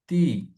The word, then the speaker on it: প্রজাপতি: প্রজাপতি, প্রজাপতি, পয়কার হবে, উচ্চারণটা এরকম হচ্ছে, প্রজাপত বলছি না, ওকার।